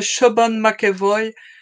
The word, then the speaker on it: Siobhan McEvoy: you are my pronounce her name because to pronounce her name properly yes that's usually how it works I guess she is a Shaban makoy she's an amazing artist painter uh who is